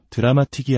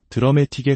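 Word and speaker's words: dramatic: 우리가 자주 쓰는 드라메틱이라는 단어도 드라마틱이 아니라 드라메틱에 가깝게 파이널리도 파이널리가 아닌 파이널리처럼 첫음절에 강하게 힘을 주어 발음해야 합니다.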